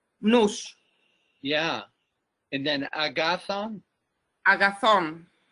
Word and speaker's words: nous: Nous, and you pronounce the S, right? Nous.